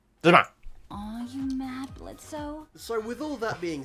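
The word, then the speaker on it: Blitzø: says Blitz with no, because the O is silent, but that actually means that the O has actually been erased though, like removed, which is different.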